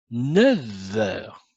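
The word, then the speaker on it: neuf heures: Alors ici, vous avez 9, le nombre 9, mais quand il est associé au mot heure, je dois prononcer V. 9 heures.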